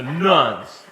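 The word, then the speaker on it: nones: Let me spell that, N-O-N-E, not the nuns with the habit, but the nuns, okay?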